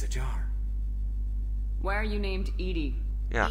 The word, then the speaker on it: EDI: Why are you named Edie? Yeah. Edie is the phonetic pronunciation of E-D-I.